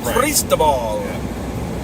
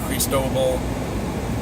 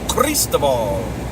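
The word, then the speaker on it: Cristóbal: You have to do the rolling R, too. Cristobal. That's how you say it. It's not Cristobal. It's not Cristobal. It's Cristobal.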